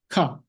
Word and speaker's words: 化: This written form functions as a suffix when pronounced in a pseudo-Chinese manner called onyomi, ka. It functions as an independent verb when pronounced in a Japanese manner called kunyomi, bakeru.